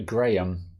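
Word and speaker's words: Graeme: The correct pronunciation would be Graham.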